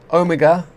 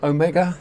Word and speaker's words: Ohmega: It is the Edelrid Omega or Omega depending on where you're from or how you say it.